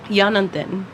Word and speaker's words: Yanantin: Yanantin.